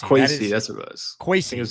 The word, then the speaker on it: Kwesi: Namar writes in, pronounce is Kwesi Adolfo Mensah. You can call him Kwesi. Kwesi, that's what it was.